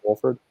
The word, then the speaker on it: Wolford: Or is that how you pronounce his name, Wolford? Yeah, Wolford.